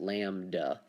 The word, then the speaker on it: lambda: like upside down why but this is called lambda and i believe i spelled that wrong but that's how you pronounce it lambda and this is the distance between our the